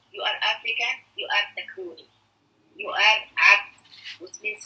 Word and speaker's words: Takruni: Takruni. Takruni, it means from Takrur country means African, but with bad way.